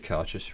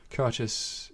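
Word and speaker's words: Cairdeas: are basically all the Karchus range, like most Gaelic words or Scottish words. Cautious is pronounced nothing like it is spelt. Yeah. Spelt C-A-I-R-D-E-A-S.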